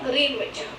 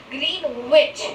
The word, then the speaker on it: Greenwich: a place is at Greenwich. It is not Greenwich. Here you can see the spelling is Greenwich. Greenwich, right? But it is spelled as Greenwich with an accent of Greenwich.